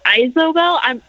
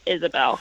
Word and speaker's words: Isabel: Is it pronounced Isabel? So there's been some debate. My friend Uh-oh. has said Isobel. I'm almost positive it's Isabel. I Right. think that's the way it sounds.